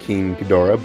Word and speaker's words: King Ghidorah: Yeah, this is King Ghidorah or King Ghidorah, depending how you want to call him. It has been confirmed by Toho. It is pronounced King Ghidorah, but King Ghidorah sounds cool too.